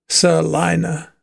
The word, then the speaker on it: Salina: Pronounce it salina. Sina. Salina. Thanks for that, Matt.